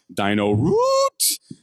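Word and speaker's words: DynoRoot: The fourth category is, I think, pronounced Dino Root. Which Correct pronunciation.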